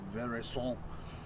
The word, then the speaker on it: Veraison: The term's called Veraison. People pronounce it differently. Veraison, I've heard. The French is Veraison.